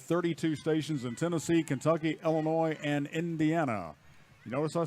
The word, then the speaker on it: Illinois: stations in Tennessee Kentucky Illinois and Indiana you notice I said Illinois ladies and gentlemen it's not Illinois's 30s is silent and then we had